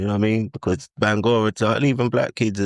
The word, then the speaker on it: Bangura: So I grew up a lot on, because I was always told my name's Bangura, right? Or Bangura, say it properly.